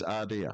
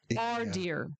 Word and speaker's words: Ardea: Is Ardea. Yeah. Oh, how do you spell that? A-I-D-E-R. A-I-D-E-R. A-R-D, yeah. Ardea.